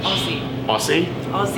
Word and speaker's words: Aussie: I say it wrong how am I supposed to say Aussie Aussie with this is awesome for the Aussies even though there's no Z in Australia we're gonna hit some